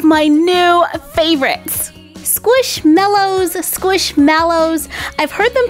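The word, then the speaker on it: Squishmallows: ton of different ways but they're kind of like marshmallows I mean they've even got a picture of a marshmallow right there so we should call them squish mellows squish mellow marshmallow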